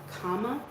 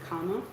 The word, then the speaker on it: karma: original word Karma uh you also hear it pronounced like Kama so we have that hard R we like to pronounce karma is actually comma um and it literally translates from a Sanskrit